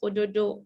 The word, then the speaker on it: ododo: The flower in the language is spelled ododo, O-D-O-D-O, flower.